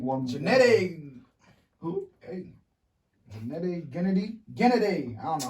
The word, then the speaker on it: Gennady: Gennady.